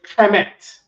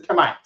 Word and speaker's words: Kemet: Hamite is Kemite, and people looked at Kemite and said Kemet. Cat from Harlem said Kemet. The white man don't say Kemet. He says Kemite.